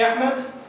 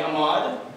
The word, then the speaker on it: Ahmad: This is me, Ahmad. But my friends in America, they call me Ahmad because they can't pronounce the simple H sound.